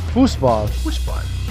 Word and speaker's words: Fußball: How do you say it correctly in German? Fußball.